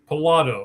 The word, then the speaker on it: Pilato: Pilato. All right. Like Pilates, right? Yeah, that's a good way. Okay. I say if you like to play the lottery, it's just lotto.